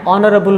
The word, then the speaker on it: honorable: And an honorable man, here H is silent.